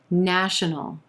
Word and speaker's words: national: no resolution number 12 national national three syllables here emphasis on the first syllable and the ah as in black vowel sound national our